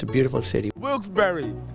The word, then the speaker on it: Wilkes-Barre: it's a beautiful city wilkesbury is the correct pronunciation this guy just informed me for everybody out there I made a mistake the first time different outfit different answer now I know the correct pronunciation is wilkesbury now Wilkes bar wilkesbury